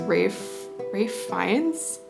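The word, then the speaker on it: Ralph Fiennes: I think you pronounce his name as Rafe Fiennes?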